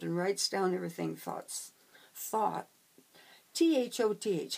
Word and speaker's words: Thoth: T-H-O-T-H.